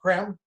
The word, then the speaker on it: Creme: spelled c-r-e-n-e it looks like cream but it's pronounced creme who has written about 17 books they're available